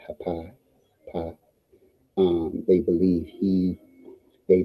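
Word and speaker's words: Hapi: is a which is spelled h a p i hai pi um they believe he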